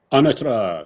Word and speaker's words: Anatra: I'm trying to get the pronunciation right now. Anatra, is that it? Anatra, yes, you got it.